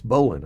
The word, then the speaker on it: Bolin: It's Bolin, I think is how it's pronounced, B-O-L-I-N.